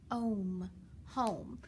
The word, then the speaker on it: home: Remember, the O is long, and that sneaky E comes in and is silent. Remember, he changes the vowel from a short vowel to a long vowel. So now when we sound it out, we have home.